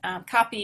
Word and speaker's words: Kapi: But how I remember it is Kapi is Indigenous for water, and I remember it because I spent some time in Central Australia, and the kids would run up and say, Kapi, Kapi, Kapi. They wanted a drink of water. So there's a good way to remember how to say it, like Kapi water.